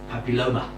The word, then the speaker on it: papilloma: diseases is human papilloma virus and or short pronounced exactly right it's human papilloma papilloma correct Achatz human papilloma virus and this is